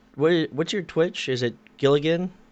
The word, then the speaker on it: Giligin: Is it Giligin?